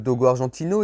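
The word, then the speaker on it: dogo argentino: argentine au parti croire le dogue argentin prononcé en espagnol dogo argentine au est un molosse de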